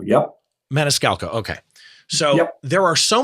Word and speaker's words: Maniscalco: composite of the comedian Sebastian Maniscalco did I pronounce his name correct Sebastian Maniscalco yep Maniscalco okay so there are so many reasons that